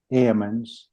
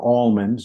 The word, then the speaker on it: almonds: at this yielded ripe Ammons or almonds depending on how you pronounce that word I I where I